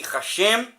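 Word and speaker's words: השם: hebraicas, o tetagrama, lê-se Hashem, o nome. Este é o som que recomendamos para leituras públicas e diálogos verbais, pronunciando o Ra como fonema da palavra razão, e o Shem do verbo chegar, uma menção tão leve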